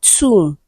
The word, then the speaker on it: tomb: Option C we have tomb. Okay. B is also silent in the word tomb. Right. The vowel sound U is the long one.